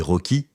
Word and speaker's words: ROCE: sur la définition du Ross qui est d'ailleurs parfois aussi prononcée rché par les francophones et Roy par les anglophones Ross est l'acronyme anglais